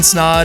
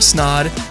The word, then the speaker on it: Snaadt: on this is snod and Paige snod it rhymes with odd and that's also the